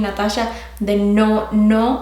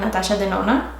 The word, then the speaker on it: Natasha Denona: Like I've been saying Natasha the no instead of the na. For some reason, every time I hear people pronouncing her last name, I don't know, in my head I hear Natasha the no. But it's Natasha the na.